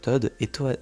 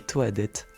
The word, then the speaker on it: Toadette: Normalement, ces deux personnages se prononcent Tod et et Todet le petit lapsus révélateur. Personnellement, je prononce les persos Toad et Toadette.